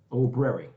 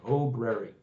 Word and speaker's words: Obrary: Obrary, right? We even did the pronunciation type thing. Obrary. It's the open library. Is what it's supposed to be, right?